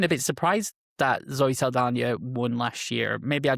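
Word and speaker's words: Saldaña: Um actually, it's funny you say you say Zoe Salana. when did she start putting the accent above the N and really getting that um more authentic pronunciation?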